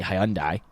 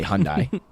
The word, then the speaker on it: Hyundai: So I like to say Hyundai. You say Hyundai.